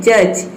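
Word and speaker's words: judge: देखिए यहां पे है जज इसमें दी के बाद क्या आया है जी आया है तो इसमें दी जो है वो साइलेंट है स इस तरह से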